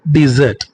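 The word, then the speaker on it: dessert: எவரிஒன் இந்த வீடியோல common miss ப்ரொனௌன்ஸ்டு words தவறாக உச்சரிக்கப்படுகிற சில வார்த்தைகளை தான் நம்ம பார்க்கப்போறோம் முதல் word டெசர்ட் டி எஸ் எஸ் இ ஆர் டி டெசர்ட் இதை எப்படி ப்ரொனௌன்ஸ் பண்ணனும் டெசர்ட் டெசர்ட் அப்படின்னா எ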